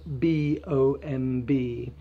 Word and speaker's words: bomb: So, how do we pronounce the word B-O-M-B? Well, any word at the end, any word that ends in MB, you don't pronounce the B, only the M.